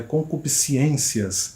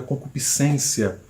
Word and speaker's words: concupiscência: influência da sua fala palavras erradas que as pessoas pronunciam o exemplo termos bíblicos qual é como é com cup ciências é muito comum as pessoas falarem isso quando na verdade o termo bíblico a concupiscência a deuteronômio quando o